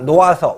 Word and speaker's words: 놓아서: 놓아서, 우리가 노하서라고 발음하지 않죠.